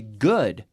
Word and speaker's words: good: good we have the the double O sound is pronounced differently its oooo D in both cases but we say good uh-uh and then mood